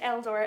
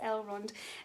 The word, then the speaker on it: Elrond: runs and i think i might have said eldor and i what i meant was el rund um so rivendell is